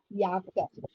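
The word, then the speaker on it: Jacke: பட் in German J வந்து ஒய்யா pronounce பண்ணும், which means யாக்க, யாக்க.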